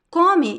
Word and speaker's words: come: The stress is at the beginning. First syllable is the stressed one, is the strong one. The last E sound is very weak. You can barely listen to it.